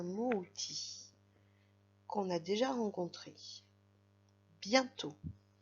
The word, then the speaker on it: bientôt: Bientôt, ça s'écrit d'un côté avec le mot bien, qui s'écrit B-I-E-N. I-E-N ça fait yin, on s'en souvient. Bien. Et de l'autre côté avec le mot tôt, qui s'écrit T-O-T, donc le T à la fin est muet, et on remarque sur le O l'accent circonflexe.